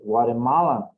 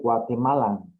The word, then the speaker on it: Guatemalan: If you want to sound more American, okay, you can say Guatemalan. If you want to pronounce it more, well, let's say correctly, you can say Guatemalan, okay?